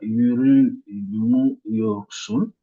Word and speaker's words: yürümüyorsun: Donc, ici, la syllabe qui suit ce M, c'est rue. Donc, on dirait yürümüyorsun.